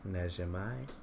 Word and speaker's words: Najimy: So yeah, and then Whoopi Goldberg, Maggie Smith, Kathy, I can never pronounce her last name. Najimy? Yeah. Najimai.